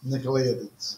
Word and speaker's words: Nicolaitans: Yet, this you have, that you hate the works of, I can't even pronounce that, Nicolaitans. Nicolaitans.